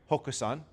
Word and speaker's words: Hoxan: So, this is our factory, Hoxan, is how it's pronounced.